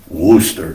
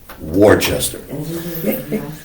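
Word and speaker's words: Worcester: W O R C E S T E R and yes it is pronounced Worooster not Warchester.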